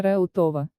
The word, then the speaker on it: Реутов: реут а хутор названия реутова однако по невыясненной причине многие жители делают ударение на второй слог в память об этой